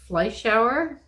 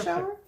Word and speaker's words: Fleischauer: Germany, kind of, whatever. Fleischauer? Yeah. Fleischauer. But she may not pronounce it in a German accent.